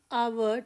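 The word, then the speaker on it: hour: जैसे आवर में H silent ऑनर में भी एच साइलेंट।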